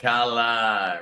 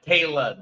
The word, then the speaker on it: Kayla: Hola, Kala. Rhymes with Layla. Kayla, then. My apologies. Not Kala, Kayla.